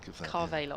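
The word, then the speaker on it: Carvalho: As I said to Adrian, just think of Barbados. Barbados. Carvealos. Carvealos.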